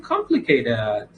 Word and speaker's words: complicated: نکته بعد واژه complicated که استرس واژه اولش هست. complicated.